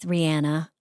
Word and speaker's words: Rihanna: It's just, if you haven't watched it lately, the digital shorty with Rihanna. Um, and that is how she pronounces her name.